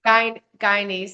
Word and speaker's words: Guyanese: In chapter two, you share powerful stories from your uh is it would you pronounce Guyanese heritage? Guyanese.